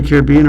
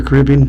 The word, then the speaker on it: Caribbean: Uh, down in the Caribbean or Caribbean, depending on how you want to pronounce that word.